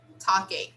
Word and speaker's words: talking: heard the noise again here the letter l is silent we don't pronounce the letter l here we say talking talking i was talking to my neighbor when